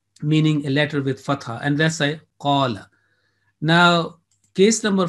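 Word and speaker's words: قال: So in here, alif will be a 2 second pronunciation rule will be applied. Two second prolongation or elongation will rule this. The rule will be applied. So it will be qala.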